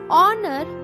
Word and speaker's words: honor: Honor, honest, both these words begin with the phonic sound O, a vowel sound. Hence we used an honest man and honor because H is silent in these words, and we are getting the sound of vowel.